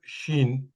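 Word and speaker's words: شين: scene তারপর লেটারটা হবে শিন শিনটা উচ্চারণ করার সময় দ্যা centre of দি tongue touch দি upper palette ইয়াতে পিকচার দেওয়া আছে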